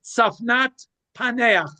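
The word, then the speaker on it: צפנת פענח: The pronunciation is Safnat Paneach, which it roughly translates as the revealer of secrets.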